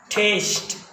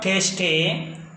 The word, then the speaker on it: taste: hate bake bake bake taste not tasty we generally say taste he remains silent taste thus he remains